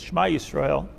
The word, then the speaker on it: Shema Yisrael: The right way to say this, by the way, is Shema Yisrael.